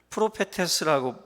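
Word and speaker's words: προφήτης: 접근을 많이 하고 있거든요 신약성경에서 도 예언자를 프로페 테스하고 왜 발음을 합니다 프로 페스 헬라어로 그렇게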